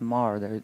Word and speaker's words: Maher: was Maher, pronounced Maher. The H is silent.